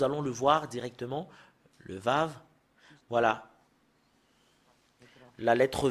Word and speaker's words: ו: Le Vav, voilà.